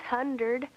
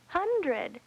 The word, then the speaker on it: hundred: 100. No, not 100. 100. You transposed a sound.